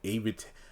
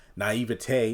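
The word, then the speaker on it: naive: seducing them with per not AIT naiv I believe is the correct uh pronunciation there and her beauty to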